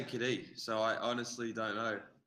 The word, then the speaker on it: Cadee: So I don't really know where it comes from because they all pronounced it as Cadee.